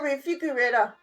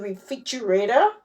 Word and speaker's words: refrigerator: ohy I used to pronounce it refigerator and then my husband or my son would be like you mean refrigerator they all sound alike